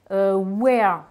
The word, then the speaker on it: wear: Wear, donc là vous avez un EA qui se prononce E, c'est c'est le verbe qui veut dire porter sur soi, sur le corps.